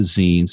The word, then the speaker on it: zine: The one thing that we can clearly agree upon in regards to zines and what they are and how they're represented is the proper pronunciation is zine.